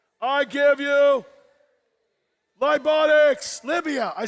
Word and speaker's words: Libya: From the wonderful country of Liberia, I give you Libotics. Libya.